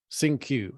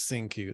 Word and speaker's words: Cinque: she pronounced it but i think it's cinque uh sing q it was sing q that's how she pronounced it yeah and i think